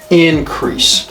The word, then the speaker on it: increase: one Z it's okay increase right increase that's a noun increase increase okay that's a verb now increase increase so stress second syllable okay to become larger